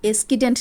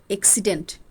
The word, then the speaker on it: এক্সিডেন্ট: ওটা এসকিডেন্ট না এক্সিডেন্ট।